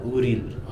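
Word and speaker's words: Auril: A-U-R-I-L. Uril. I-L. That is how I'm pronouncing it.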